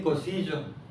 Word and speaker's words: Cosiyo: vieron el cartel, pero dice cosillo con y eso es importante porque estamos acostumbrados a ver el nombre escrito con J. Vemos, por ejemplo, que se escribe, escriben cosijopi o cosijoesa. Hay hasta escuelas que se llaman así. el libro El Reikos y Hopy y su familia. Pero el sonido J no existe en el Dijazá.